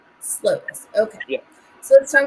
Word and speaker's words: Slovis: So let's talk about Pitt's quarterback, Slavis. Is that how you pronounce it? I've seen Slovis. Yeah, I think as Slovis. Slovis.